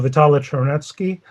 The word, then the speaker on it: Vitaly Chernetsky: My name is Vitaly Chernetsky, or pronounced American style Vitaly Chernetsky, and I'm wearing several hats today, which I'm very pleased to do.